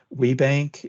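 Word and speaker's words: WBENC: WeBank is how we commonly pronounce it.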